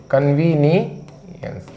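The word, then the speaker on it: convenience: यह इनकन्वीनियंस यानी असुविधा इसका उच्चारण भी लिख दूं कन वनी अंश कन्वीनियंस और ये तो मैंने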